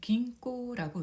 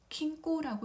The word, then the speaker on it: 銀行: 일본어로 읽을 때는 긴꼬라고 읽습니다. 코는 오 장음으로 발음하면 되고요. 기는 타금이 있습니다. 그래서 킹꼬라고 읽으면 안 됩니다. 키는 일본어에서는 금이에요. 그래서 타금 있는 은, 긴꼬라고 발음을 해줘야 됩니다.